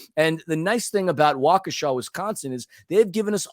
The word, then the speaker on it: Waukesha: lot of listeners apparently in Waukesha Wisconsin I pronounced it wakisha my bad Waukesha Wisconsin a lovely city about 16.5 miles away from Milwaukee with a population of 72 000. and the nice thing about Waukesha Wisconsin is they've given us all the likes